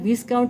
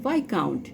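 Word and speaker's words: viscount: এটার উচ্চারণটা ভিসকাউন্ট হবে না, উচ্চারণ হবে ভাইকাউন্ট।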